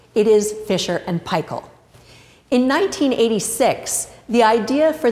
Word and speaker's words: Fisher & Paykel: partners fiser and pel which is why we pronounce the name of the company the way we do it's not Fisher and pel and it's not Fisher and P it is fer and pel in 1986 the idea for the dish drawers